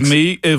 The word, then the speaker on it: Meigs: Denton is for It's not pronounced It's Meigs. What is it? Meigs County. Meigs. Why Yep. they put an I in it?